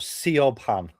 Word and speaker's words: Siobhan: Siobhan is spelled S I O B H A N. That is the traditional spelling of the name because it's an Irish name. Really? But it's spelled Sean.